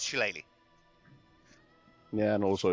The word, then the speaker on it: shillelagh: Just cast that goddamn shillelagh. Sure, sup, motherfuckers. So Shillelagh, that's how you pronounce that.